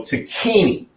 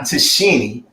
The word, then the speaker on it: Tacchini: like LS soon followed, and Sergio, which I used to pronounce this wrong too, Sergio Tacchini is the name, not Tacchini.